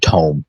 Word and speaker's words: Tome: Watched Over the Garden Wall, wonderful, and in that also watched Tomb of the Unknown, which is like the pilot that they did. Tome.